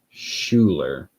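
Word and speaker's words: Schuyler: By the way, the guy's first name is pronounced Schuler, but he goes by Sky. Got it. Cool. I will check out his books, and that was Schuler Hernstroms.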